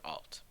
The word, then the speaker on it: alt: and the alt attribute which we pronounce as alternative or alt the alt attribute makes